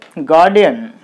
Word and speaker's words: Guardian: So what are the syllables? G-U-A-R, guard, D, N. This is similar to Indian. Okay, so Guardian, there are three syllables like this. So that you put the stress mark on third syllable.